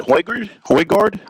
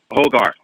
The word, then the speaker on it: Højgaard: Is it Højgaard? No, Højgaard. Højgaard.